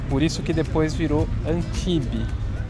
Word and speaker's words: Antibes: isso que depois virou Antibe. Se escreve Antibes, mas pronuncia sem o S, Antibes.